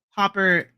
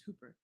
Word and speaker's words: Hooper: That's That's pretty much pretty much Hopper Hoop Is it Hopper or Hooper? Am I saying it wrong? It's Hooper.